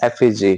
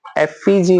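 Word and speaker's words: effigy: कभी कभी आपको एफयूजी ऐसा करके भी हल्का सा प्रोनाउंसिएशन मिल सकता है, पर करेक्ट प्रोनाउंसिएशन इज एफजी, है ना। एफईजी मत बोलना, भले स्पेलिंग में यहाँ पे दिख रहा होगा आई है, पर प्रोनाउंसिएशन है एफजी।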